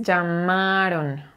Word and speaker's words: llamaron: ya miran pero ojo la palabra es llamaron y esta es tu mandíbula y cuando pronuncias la a tu mandíbula debe caer a a son mis papás